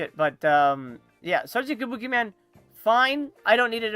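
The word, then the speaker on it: Kabukiman: I watch um uh Jason Jason Benet's videos and he pronounced it Sergeant Kabukaman. I'm like, "Wait a minute. Has he not seen Sergeant Kabuki Man?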